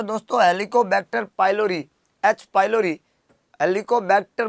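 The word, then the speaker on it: Helicobacter: प्यारे दोस्तों हेलिकोबैक्टर pylori, H pylori, हेलिकोबैक्टर बोल रहा हूँ मैं, हेलीकॉप्टर नहीं बोल रहा हूँ।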